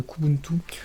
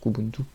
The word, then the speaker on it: Kubuntu: Certains qui préfèrent prononcer la première lettre séparément, mais la majorité des gens prononcent Kubuntu.